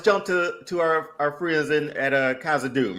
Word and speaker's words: Khazad-dûm: Let's jump to our friends at Khazad-dûm, right? So hold on, you gotta say it right. Khazad-dûm.